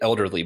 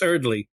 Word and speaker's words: Earley: say his name wrong I always want to say elderly but it's is it well it's it's Earley and you remember Matt